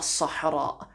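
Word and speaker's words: صحراء: this one but the the word for the desert is a Sahara which sounds like the word Sahara in English and obviously them that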